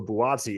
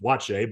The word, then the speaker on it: Buatsi: Like, people don't understand that Joshua Buatsi isn't even how you pronounce it. Yeah. But they just sounded out and they just said, yeah, it's Joshua Buatsi, and they roll on with it. When in actuality, you ask him, he's like, no, it's pronounced Boache, but everyone does it wrong.